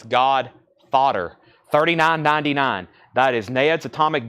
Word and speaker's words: God Fodder: Ned's Atomic Dustbin and no I'm not mispronouncing that that's God fodder 39.99 that is Ned's